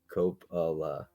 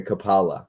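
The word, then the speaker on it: Coppola: into um Copa okay kapala kapala I think is how he's saying it kapala Francis Ford Copa is how I say it Copa is correct that's how I pronounce it he says Cala CPA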